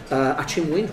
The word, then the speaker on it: Achimwene: One of the characters in Central Station is Achimwene, right? Achimwene, which yeah. Is, it's which is very difficult to pronounce. It's Chichewa. It means brother in Chichewa, which is the language spoken in Malawi.